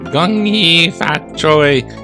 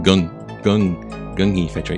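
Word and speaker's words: Gung Hay Fat Choy: Gung fat choi. Even it says it's K, right? Like it's in Kung Fu. It's G. Pronounced like gung fat choi.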